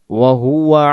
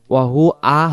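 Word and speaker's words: وهو: তাবারাকাল্লাযী বিয়াদিহিল মুলক ওয়া হুয়া আলা কুল্লি, ওয়াহু আ হয়ে যায়, ওয়াহু আ হবে না, উচ্চারণ হবে ওয়াহুয়া আলা, ওয়াহুয়া আলা, আলা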